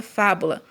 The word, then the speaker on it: fábula: é a penúltima e na palavrinha fábula assim ba tônica é a antepenúltima então jabuti à posição